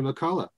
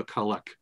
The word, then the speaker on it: McCulloch: have been another Jimmy McCullough song? Jimmy McCulloch. It's Henry McCullough, Jimmy McCulloch.